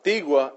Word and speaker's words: Tigua: Now, Tigua is spelled T-I-G-U-A, Tigua Indian tribe.